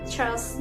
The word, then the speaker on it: trust: Jadi cara pengucapannya itu lebih kayak R-nya itu kurang dapet, kayak terus di terakhir itu kan ada T ya, trust gitu, trust me gitu. Oke, aku tambah lagi ya untuk yang kedua.